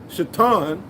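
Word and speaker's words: שטן: well the adversary which in the hebrew you would say uh you would pronounce the the word adversary shatan which is where satan comes from you know the great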